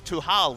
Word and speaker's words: Tal: The correct pronunciation of Tal's name is Tuhal, which means to lock in Trundle.